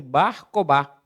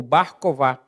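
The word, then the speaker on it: Bar Kokhba: E aí, cerca de 60 anos depois, ali no ano 130, há uma segunda revolta, a revolta de Bar Cobá, ou Bar Cová, depende da pronúncia.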